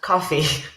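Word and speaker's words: Ko-fi: I think that's fantastic Kofi is pronounced coffee anyway yeah go Adam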